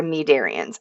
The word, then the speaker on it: cnidarians: Our other early group of animals are going to be your Nidarians. I know there's a C and it's probably throwing you off, but the C is silent.